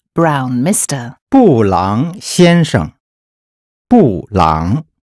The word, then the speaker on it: 布朗: 布朗先生布朗 is the Chinese approximation of the name Brown. The syllables here are fourth tone and third tone.